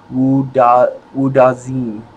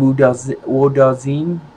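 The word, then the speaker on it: Wudzen: I thought it was Wudazin, but it's spelled, it's not Wu like W-O-O. It's W-U-D-Z-E-N. Let me see. Wudazin.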